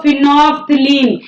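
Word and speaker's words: phenol: orange दूसरा नाम लिखो फिनोल इसमें एल साइलेंट है बोलना भी सिखा रही हूं फिनो फिनोल होता है ना फिनोल से पोचा मारते हैं तो फिनो एल साइलेंट फिनोल जो कि खुद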